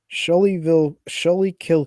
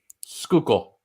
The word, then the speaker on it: Schuylkill: Okay, so Schuylkill County, Schuylkill. Schuylkill, my bad, butchered the name, sorry.